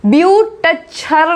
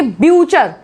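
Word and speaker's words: butcher: Next देखिए, टी सी एच यहाँ पे लिखा हुआ है तो उसमें टी साइलेंट हो जाएगा, इसको ब्यूटचर नहीं बोलेंगे, बोलेंगे ब्यूचर, ब्यूचर, जो मीट बेचता है, ब्यूचर।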